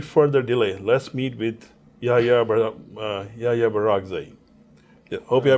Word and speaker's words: Yahya Barak Zai: So without any further delay, let's meet with Yahya Barak Zai. Yeah, hope I pronounced your name correctly.